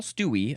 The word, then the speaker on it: Stuewe: It is spelled Stuewe. Paul Stewie, I'm just going to say that's how his last name is pronounced, said played fast and loose with the public purse strings.